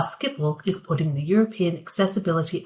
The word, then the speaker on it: Schiphol: So it's Gelens, in English Gelens, and it's Schiphol, but it's very difficult to pronounce in English, but very good.